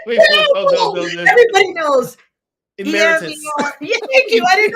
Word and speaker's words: emeritus: Emirate. Oh no no no. I don't know. Say it. Wait, oh, no. Everybody knows. Emeritus.